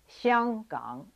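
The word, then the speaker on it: Xianggang: Hong Kong is spelled H-O-N-G-K-O-N-G because in Cantonese, Hong Kong is pronounced Hong Kong, but in Mandarin, the same two characters, Hong Kong or Hong Kong, is pronounced Xiang Gang.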